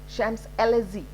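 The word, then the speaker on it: Champs-Élysées: you know ah chef the ch is pronounced as sha shams lz now this last sound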